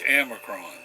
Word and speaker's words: Amercron: planets it's called amicron the data you know the computer sometimes doesn't say it right so it's amicron so and they have